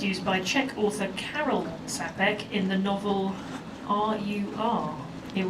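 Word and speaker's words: Čapek: Czech artist YF uh sapek I hope I'm pronouncing that correctly it's a CA with like a little um kind of flat U over it like a little you know extra thing so I'm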